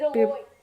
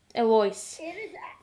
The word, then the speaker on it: Eloise: Okay, so is Eloise, I have no idea how to pronounce the storm name, inside It's Eloise. Eloise.